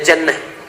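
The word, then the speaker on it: جَنَّة: Lihat sini, ada junnah, ada jinnah, ada jannah. Jinnah, jinnatun, kemudian jannatun. Tulisannya sama, harokat awalnya yang beda.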